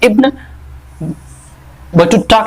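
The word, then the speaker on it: Ibn Battuta: जो एक बहुत बड़े कह सकते हैं कि ट्रैवलर हुए हैं इब्न बटुटा के बारे में, या फिर इब्न बुट्टा बहुत लोग इसे बोलते हैं, आप जैसे भी प्रोनाउंसिएशन करें आप देख लेना।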